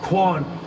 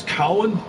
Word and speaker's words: Quan: His name is Eric Cowan, or Quan. I always pronounced it as Cowan, but it's actually pronounced as Quan.